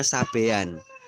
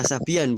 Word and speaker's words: Sabian: Atau kalau adik-adik cari di apa namanya di Wikipedia, sobiin itu dibacanya sabean. Nah, bukan Nisa Sabian, bukan ya, sabean.